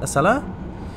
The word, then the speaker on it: Acela: don't know hmm yeah i'm not sure how to pronounce it a seller yes the acela train the american nacella train